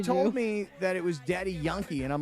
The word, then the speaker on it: Daddy Yankee: Well, because in Spanish it's not Yankee. They don't say it like that.